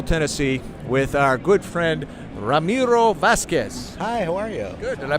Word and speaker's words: Ramiro Vasquez: NAMM show nashville tennessee with our good friend Ramiro Vasquez I pronounced your name right sir you did hey